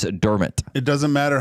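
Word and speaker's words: Dermott: thought and um dermit der dermit sorry her correcting us on the name pronunciation Travis dermit it doesn't matter how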